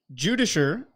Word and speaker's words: Judiciar: Judisher is a shortened form of judiciary with the C being pronounced as an sh.